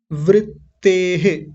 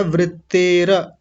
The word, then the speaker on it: वृत्तेः: वृत्तेः या वृत्तेर ऐसा बोलेंगे, वृत्ते, वृत्ते नहीं वृत्तेर, भी जातस्येव या अभिजातस्येव, अलग अलग करेंगे तो क्या बनेंगे?